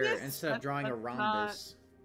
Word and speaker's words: rhombus: Instead of drawing a rhombus. It's rhombus. I've never heard of rhombus. It's spelled R-H-O-M, rhomb.